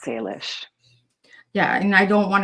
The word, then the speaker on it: Salish: No, of course it's Salish. Salish. S A L I S H. It's you know, it's obviously different language. So, it it is hard to sometimes translate it from English and to know how to pronounce the A, but it's Salish.